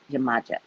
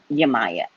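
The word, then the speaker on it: Yemayá: Send in Ogun, send in Chango, send in Oya, send in Yamaya. I can never pronounce the other way. Yamaja. I say it wrong. Yamaya.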